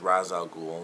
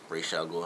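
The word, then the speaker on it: Ra's al Ghul: got to see Merlin as razal ghoul or raal ghoul however you want to pronounce it we got to see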